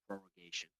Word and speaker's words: prorogation: And it's taken me about a month and a half now to actually say it correctly, prorogation.